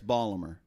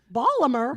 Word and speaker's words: Baltimore: Now we pronounce it Baltimore, but up there it's Balmer. Balmer. Balmer.